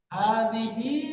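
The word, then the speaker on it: هذه: পুরুষবাচক রূপ শিখেছি এই পুরুষবাচক রূপটা কি হয় হাদা হাদা এই যে স্কুল ইশারা যখন আমরা পুরুষবাচক শব্দের সাথে ব্যবহার করব তখন আমরা উচ্চারণটা পড়ে আসছি কি হাদা তো এখন একটা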